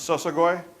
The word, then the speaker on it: Shoshone: The way you pronounce Shoshone is Sosagoi. It's the people who walk by foot.